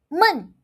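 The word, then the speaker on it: 闷: men men Okay. Now, let's look at the meaning. men second tone it means door men fourth tone it means boring Hear that?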